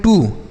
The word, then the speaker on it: too: तो इसे हम पढ़ते हैं टू। TOO टू। TO इसे भी हम टू पढ़ते हैं और TOO इसे भी टू पढ़ते हैं।